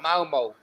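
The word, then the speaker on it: Malmö: going to go for malmo okay let's go to sam for the next one oh look at some giving it bloody correct pronunciation i know i know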